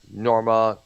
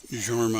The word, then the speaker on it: Jorma: Fest began when he and our lead guitarist Norma Calhoun, I think his name is Yeah. pronounced. Yeah, Jorma.